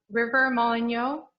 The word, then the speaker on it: River Moligno: Last year, we were able to have 2 high school interns, River Moligno, I think that's how you say his last name. Is that how you say it, Chalice?